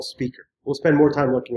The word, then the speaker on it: SPQR: real job is called graph QL spqr or pronounced graph QL speaker will spend more time